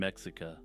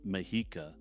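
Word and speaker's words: Mexica: tala Taneka Chala and mexa as I'm editing this I realize that the last one is properly pronounced mahika but yeah I'm not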